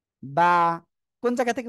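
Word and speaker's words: ب: এই যে দুই ঠোঁট, দুই ঠোঁট মিলিত অবস্থায় আপনার উচ্চারণ করতে হবে, হয়ে যাবে বা, বা, বা।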